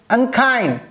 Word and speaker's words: unkind: stress and the word like unkind the second syllable is stressed so a word press